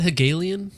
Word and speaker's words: Hegelian: People get powerful off your Is that how you pronounce that? Hegelian.